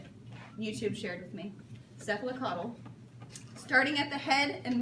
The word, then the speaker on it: cephalocaudal: Cephalocaudal.